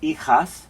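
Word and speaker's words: hijas: i have four daughters ichas notice the h is silent right so we don't want to pronounce that h yo dengo dos ejos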